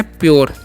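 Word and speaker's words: pure: ऐसे बोल सकते हैं पी यू आर ई है तो इसे पूरे नहीं पढ़ना है क्या पढ़ना है प्योर क्या पढ़ते हैं इसे प्योर ठीक है और प्योर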